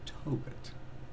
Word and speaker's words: Tobit: But I grabbed up Tobias, the Book of Tobias, but it's actually in more ways considered the Book of Tobit. That's his name. Toe and then bit.